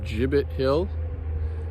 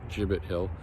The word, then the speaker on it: Gibbett: off on a little Adventure today today I in Groton Massachusetts at a place called jibbit Hill I believe that's the proper pronunciation um I believe it's a soft G I was corrected by